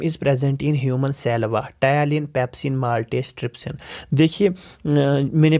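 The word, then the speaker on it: ptyalin: का दूसरा नाम है टायलिन, पहला जिस पे पी साइलेंट रहता है, ठीक है।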